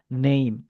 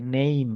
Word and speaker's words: name: nama teman-teman justru e remind aja pengucapannya adalah name. Seolah-olah ada Y-nya ya name kayak gitu ya.